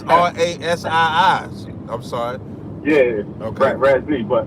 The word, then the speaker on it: Ras I: You pronounced my name wrong, too, man. It's Ras I. Okay, Ras Okay, on the phone it's R A S I I I'm sorry.